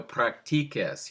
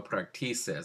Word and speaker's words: practiques: to be pronounced no practices. And you don't want to say no practices. To make a K sound in front of an E or an I, you always have to use a QU.